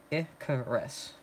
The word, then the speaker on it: Icarus: Icarus is pronounced Icarus.